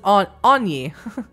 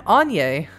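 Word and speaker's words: Áine: I'm this word. I don't know. She pronounces it Anye. I'm Anye.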